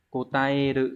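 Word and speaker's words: 答える: Thì vừa nói rồi, chữ này là chữ đáp, âm kunyomi sẽ là kotaeru, kotaete. Chứ không có cái cách đọc là thành y thế kia nhá, nó là e cơ.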